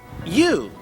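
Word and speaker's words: ewe: a u and that's spelled e w e and pronounced you so that means this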